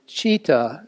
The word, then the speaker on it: citta: The Pali word citta, it's spelled C-I-T-T-A, is usually translated to mean heart and mind.